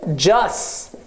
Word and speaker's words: just: i Yes で Just Just のルールですこれは T を発音しませ just だけですはい just でこの